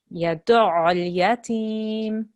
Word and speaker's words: يدعو اليتيم: Yadu'ul yatim. يدعو اليتيم. Okay? So you have to harden the ayn and then join it to the lam here.